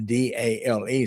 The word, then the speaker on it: Dale: Uh, so so for me, for instance, Dale, uh, D A L E, so Dale, uh, either ah or the A, the A sound, right? And also, uh, since the E is silent, so I would focus on the ah or the A.